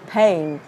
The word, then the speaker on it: pain: nhớ giùm Thủy ha, cái chữ nỗi đau này không đọc là pain pain nha, nó là âm e, e kết hợp, nó sẽ là aim, aim, pain, pain.